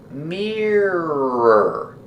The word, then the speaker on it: mirror: Pronunciation, mirror. The first vowel is ear, like ear. Together, mirror. Mirror.